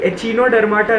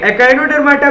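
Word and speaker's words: Echinodermata: एचिनोडर्माटा नहीं कहना इसको, एकाइनोडर्माटा कहना। ओके, बस प्रोनाउंसिएशन थोड़ा ठीक कर लो अपना। देखिए, एकाइनोडर्माटा में क्या होते हैं, एग्जाम्पल इसका स्टारफिश याद आना चाहिए आपको।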